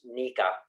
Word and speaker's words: NECA: I work for the International Brotherhood of Electrical Workers, Local 11, as well as the National Electrical Contractors Association, that is somehow pronounced NECA, is the abbreviation for it.